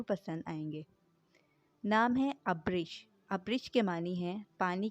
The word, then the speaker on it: ابرش: آپ کو ضرور پسند آئیں گے۔ نام ہے ابرش۔ ابرش کے معنی ہیں پانی کی طرح تیز بہنا۔ سپیلنگ ہے ABRISH۔ نام ہے آئرہ، AIRA، آئرہ۔